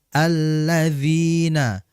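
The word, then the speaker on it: الَّذِينَ: Alladzina ya hati-hati dia huruf dzal ini ujung lidah berjumpa atau bertemu dengan ujung gigi seri atas. dza dza alladzina alladzina dijelaskan hum yuroun perhatikan di situ.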